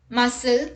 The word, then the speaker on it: muscle: c rule number one c is not pronounced in the combination sc let's look at the examples muscle scissors ascent miscellaneous fascinate